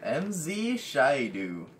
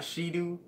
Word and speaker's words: Shaidu: by me, me, Digi Bro, and this guy MZ Shyu. That's how it's pronounced. Beat. It's not Shidu.